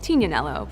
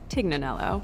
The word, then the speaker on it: Tignanello: The name The Tig comes from a wine called Tignanello, but oftentimes it's mispronounced Tignanello.